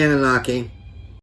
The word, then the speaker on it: Anunnaki: are the Annunaki or the how do you pronounce it dr. you can say in a knocking okay I want to make sure I'm saying it right well who are the Anunnaki alright the Anunnaki another term for is Nigerians the planet Nibiru